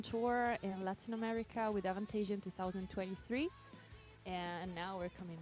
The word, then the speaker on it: Avantasia: I said Avantasia just by default but Okay. I would say in Italy we would normally pronounce Avantasia. Okay. But like I think that they're internationally known as Avantasia.